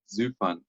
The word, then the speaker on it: Zypern: Yeah, because if it sounds a little bit like z, Zypern. You need to Zypern. pronounce the T sound. Zypern.